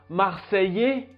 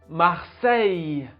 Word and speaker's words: Marseille: grande commune de france fait marseille pas marseillais non marseille marseille il y a à